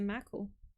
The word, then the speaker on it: Mako: I remember I called it the Mako first. Because in Spanish, we pronounce the A as A.